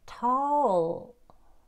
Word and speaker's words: tall: 예, 그러면 tall, 네, 윗니아랫니 공간 손가락 하나 정도 딱 떼시고 tall 이렇게 하시면 돼요.